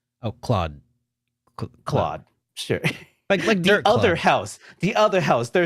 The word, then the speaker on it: Claude: to pronounce this again it's not clyde this is cloud yeah i think it's cloud cloud cl because it's french oh claude claude the other house